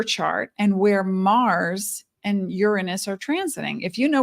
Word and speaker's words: Uranus: Revolutionary change that Uranus represents and it is pronounced Uranus because it's a Greek word urano meaning the